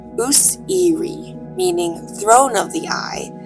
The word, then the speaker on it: Osiris: As well as being reconstructed from hieroglyphs to have been pronounced Useri, meaning throne of the